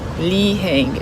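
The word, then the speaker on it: Li Hing: powdery pink powder sauce thing on it called Lee Hing and it's spelled Li I with a hyphen h i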